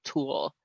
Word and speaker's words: tulle: That, by the way, is tool.